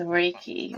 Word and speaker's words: Reiki: Yes, Reiki. All right. Reiki There we healing. go. Okay. So Reiki Reiki. healing and sound healing, they're both energy healing, you know. Reiki, so when I do Reiki on my clients, I basically am using my